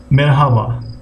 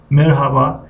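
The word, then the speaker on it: merhaba: خب یونیت 1 مرحبا. خب مرحبا نیز میگن و در بین لهجوی مرحبا هم استفاده میکنن. مرحبا هر تلفظ نمیکنن. یعنی هر نمایان نیست.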